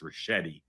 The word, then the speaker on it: Ricchetti: Okay, I will politely and gently tell you his name is pronounced Ricchetti.